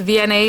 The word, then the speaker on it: Vianney: And my name is Vianney. It's VianneyCreates is how it's pronounced.